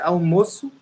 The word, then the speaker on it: almoço: See that we don't say the L like an L. We don't say almoço. We say almoço as if it was a new sound. Almoço. We pronounce the hard U in some words, you know. So we don't say the L as in other languages.